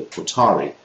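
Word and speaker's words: Hutaree: Milian group in based in Michigan called the otari that's how you pronounce it and they were indicted on sedition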